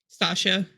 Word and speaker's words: Stacia: cruel and Lovely by is it Stasia or Stacia s t a c i a how would you pronounce that stasha stasha Stark stasha Stark